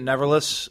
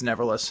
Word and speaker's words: Neverless: I pronounce it Neverless. Okay. Some people will say Neverless and tend to enunciate the second part of the phrase.